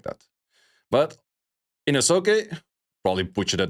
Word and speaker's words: Inosuke: Inosuke. The U is silent. Inosuke.